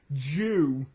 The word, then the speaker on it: Zyu: That's actually the pronunciation of it. Jew.